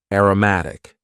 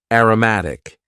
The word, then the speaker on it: aromatic: as a noun next we had an adjective aromatic aromatic and please focus on the pronunciation here Aroma as a noun aromatic this